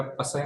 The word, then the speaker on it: psi: ह्याला psi नाही म्हणायचं, त्याला काय म्हणायचं, psi. P is silent here.